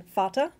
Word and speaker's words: Vater: What happens is in German, the letter V can be pronounced as either F, as in Vater, father, or it can be pronounced as a V, as in Vase, vase.